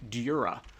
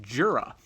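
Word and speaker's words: Djura: is meant to be sort of a European style J where it sounds like a Y to um people in the US like me.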